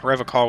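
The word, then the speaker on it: Revachol: i thought it was rev a chol his gaze shifts to the pile of soggy logs at his feet he pronounces rev ah rev a call with the hard k unlike other people look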